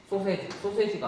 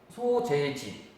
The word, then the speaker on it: 소재지: 사업장에 소세지가 아니고 소재지. 발음이 안 되네요.